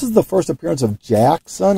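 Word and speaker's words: Jaxxon: the first appearance of jackson i believe is how you pronounce it j-a-x-x-o-n um not sure who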